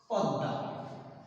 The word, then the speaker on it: পদ্মা: এই ম ফলা থাকে কোন শব্দের শেষে যদি এই ম ফলাটি থাকে তাহলে যে বর্ণের সাথে ম ফলা যুক্ত থাকবে ওই বর্ণটি ওই বর্ণটি ঠিক ওই মধ্য নিয়মে মধ্যের নিয়মে হবে সেই বর্ণটি দুইবার উচ্চারিত হবে যেমন উদাহরণস্বরূপ আমরা লিখতে